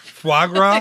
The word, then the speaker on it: foie gras: Foie gras?